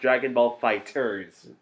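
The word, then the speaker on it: Dragon Ball FighterZ: Dragon Ball Fighter Z. Actually, sometimes it's just pronounced Dragon Ball Fighters.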